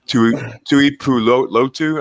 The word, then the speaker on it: Tuipulotu: Even Marlon, I always screw these names up, but Tuipulotu, I believe that's how you pronounce it. Yeah, Tuipulotu, like him, I'm pretty surprised he's still there as well.